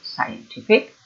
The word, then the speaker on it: scientific: one its scientists but the objective its scientific and you have to be scientific then you have to focus that when it comes into an objective the stressed syllable is the second syllable scientific and the subject of